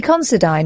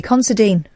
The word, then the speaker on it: Considine: Is it Patty Considine or Patty Considine?